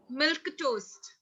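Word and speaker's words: milquetoast: was the word again milk toast milk toast try sounds like milk and toast to me it is how it is pronounced okay this i was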